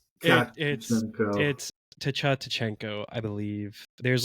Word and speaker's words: Tkachenko: Just imagine you're saying Matthew Tkachuk, and it's Tachenko. Tkachenko. Oh, you pronounce the K.